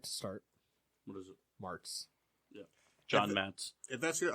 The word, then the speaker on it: Martz: Mets.